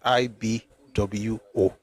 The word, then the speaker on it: Igbo: But the right pronunciation is IBO.